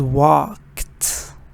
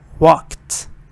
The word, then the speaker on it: walked: have to be careful this is walked walked walked it's one syllable it's not two syllable because it has little sound at the end walked towards which is